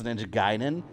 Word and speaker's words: Ninja Gaiden: There was Ninja Gaiden. Some of us had Ninja Gaiden. Now we know it's Ninja Gaiden.